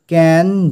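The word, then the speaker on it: Cannes: যাক প্রথমে দেখো টাইটেলটা ক্যান ডু এখানে এস কিন্তু এগুলো সাইলেন্ট থাকবে ঠিক আছে উচ্চারণটা আমরা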